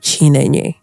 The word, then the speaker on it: Chinenye: But now here we are in Uganda, and I'm very sure there are people that have not heard of Chinenye. Wow, you got the pronunciation.